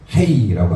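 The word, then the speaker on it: ה: 그리고 헤이라고 하죠. 히읗 소리죠. 흐 소리.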